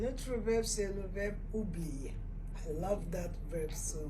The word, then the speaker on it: oublier: Un autre verbe, c'est le verbe oublier.